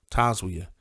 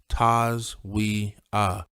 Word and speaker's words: Taswia: it out for them taswia i'd say slowly pronouncing it taz we uh so that it didn't get mispronounced then i wait for